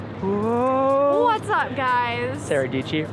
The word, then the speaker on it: Dietschy: Sara Dietschy, rhymes with peachy.